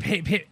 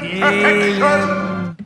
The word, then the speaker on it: Pagan: Pagan. Yeah. Not so much Agan, but Pagan.